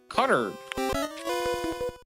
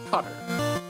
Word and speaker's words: Qatar: But yes, in you know, people from, you know, the the Arabic pronunciation seems to be cutter.